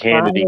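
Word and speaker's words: Hannity: think Hanna D cuz it rhymes with insanity, Bonnie.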